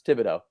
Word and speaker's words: Thibodeau: what's his name that's not his name it's Thibodeau how is it spelled it doesn't matter how it's spelled it's not phonetic I'm looking up this